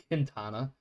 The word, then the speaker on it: Quintana: Uh, it is spelled Quintana, but because she is of Hispanic descent, I'm going to go with it's Quintana.